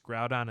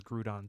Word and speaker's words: Groudon: segue from this but I heard somebody pronounced Groudon as gudon today and I don't know how